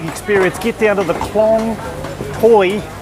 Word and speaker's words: Khlong Toei: get down to the klong toy market it's spelt toei t-o-e-i but it's the main market